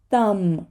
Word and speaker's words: thumb: not say the b the next word is thumb thumb right we do not say the b the next one is